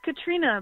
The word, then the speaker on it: Catriona: It's Katrina, but yeah, hey Matt. Oh, How are you? okay. Is there an O in your name, or was that a typo? There in the is, yeah. No, it's spelled like an Irish name.